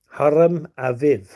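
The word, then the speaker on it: Hiram Abiff: rise to the name hire him a beef and the correct Hebrew pronunciation would be Haram Ave okay a v equals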